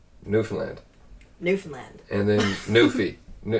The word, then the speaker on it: Newfoundland: And and all you got to do is basically say Newfoundland like you would, but pretty much just speed it up is the easiest way to do it. And don't pronounce it. Don't pronounce all the syllables like tightly.